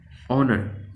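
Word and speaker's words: honour: ऑनर, आपको यहाँ पर क्या दिख रहा है कि ये जो एच है ये साइलेंट है, लेकिन ये ओ जो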